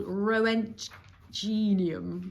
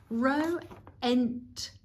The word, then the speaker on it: Roentgenium: Apparently it's called Roentgenium. Roentgenium? Roentgenium. There we go. So there we go. I don't know what Roentgenium does, what you'd use it for.